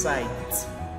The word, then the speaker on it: site: And SITE is pronounced sight, sight. Alright, like an area or a place is called a site.